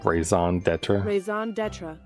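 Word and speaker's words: raison d'être: means right but how do you say it raison d'etra Ison deter okay thank you hey I voice it is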